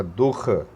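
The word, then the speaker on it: दुःख: रही है, तो ये दुह नहीं होगा, ये दू ही होगा, क्योंकि आखिरी में दो बिंदी लगती है तो हा का उच्चारण होगा, ये हमेशा आप ध्यान रखिए।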